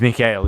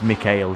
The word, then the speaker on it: Mikhail: going through the uh he's Mikhail isn't it I've been pronouncing it wrong because they're going through the final corners yeah it's Mikhail because the A's before the E so yeah now 12